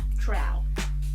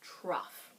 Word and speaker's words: trough: low points called trots I know how it looks in the book but it's not trout English is just really dumb but it's tough that's how it's pronounced trough two important things you